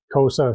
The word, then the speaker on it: Xhosa: They're an offshoot of the Zulus, and a lot of their language is the Xhosa language, and even Xhosa itself, which is spelled Xhosa, it's a click sound, like sa.